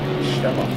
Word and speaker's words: Schaller: Well, then what's the German pronunciation of this one? Schaller. Florian Schaller. We'll get you pronouncing names properly.